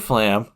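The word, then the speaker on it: Fflam: But, I just wanted to mention that Fluter Flam's name is spelled F-F-L-E-W-D-D-U-R. That's Fluter, and Flam is F-F-L-A-M.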